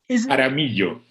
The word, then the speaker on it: Jaramillo: I'm not sure whether the J is pronounced J, Miguel. Jaramillo.